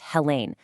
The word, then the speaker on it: Helen: A fantastic resource is Helen Matthews and her first name is pronounced Hela.